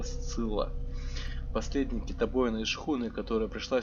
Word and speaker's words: Сцилла: Как это читается? Читается это Сцилла.